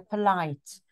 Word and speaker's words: polite: the light yeah and please don't say Paul it's not all it's per you're polite yeah so we've seen